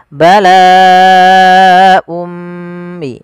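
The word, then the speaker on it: بَلَاءٌ مِنْ: Contoh awalnya dia un. Hamzah berharakat ini kita baca un. Karena kita bertemu dengan u mim maka n-nya diganti dengan huruf mim maka dia menjadi um. Maka langkah pertama kenapa dinamakan dengan idgham? Karena tanwinnya dimasukkan ke huruf setelahnya. Maka kita baca bala ummi.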